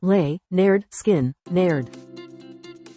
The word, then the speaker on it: Lynyrd Skynyrd: Pronounced Lay, Naird, Skin, Naird. Lynyrd Skynyrd's 1973 debut album introduced the world to southern rock with hits like Free Bird.